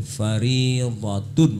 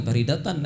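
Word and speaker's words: فريضةٌ: Jadi talabul ilmi faridatun ya, bukan faridatan ya. Faridatun ya, supaya betul ya.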